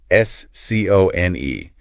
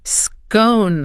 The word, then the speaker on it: scone: In the red corner, we have the pronunciation that rhymes with bone. Scone. Scone.